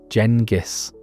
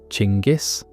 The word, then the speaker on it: Genghis: The name has quite a few pronunciations. Jenis, Chingis, Genghis, and depending on language and history, they're all acceptable.